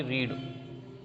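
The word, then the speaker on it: read: First में आएगा only रीड, यानी पास्ट सिंपल। रीड की तीनों फॉर्म रीड ही होती है। ठीक है, प्रोनाउंसिएशन में हल्का सा फर्क आता है। रीड, रेड, रेड।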